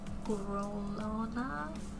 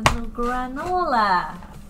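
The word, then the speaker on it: Granolah: Grolona? Is that how you say it? I forgot again. Hold on, let me look at it again. Granola.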